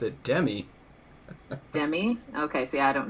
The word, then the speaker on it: Demi: The way she says it, Demi.